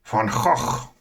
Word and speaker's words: Van Gogh: Some names you may be familiar with is Rembrandt, Vermeer, and Van Gogh, or as the Dutch pronounce it, Van Gogh.